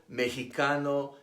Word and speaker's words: Mexicano: those of Aztec origin an X between two vowels is pronounced like the Spanish J Mexico Mexicano Tejas Oaxaca why the traditional Spanish